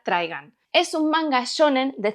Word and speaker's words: Trigun: trigun de yasuhiro Nao yo le llamo trigun porque en mi adolescencia Cuando se ponía el anime en la televisión de Cataluña se le llamaba trigun pero en realidad la pronunciación correcta teniendo en cuenta que está en inglés sería trigan es un manga shonen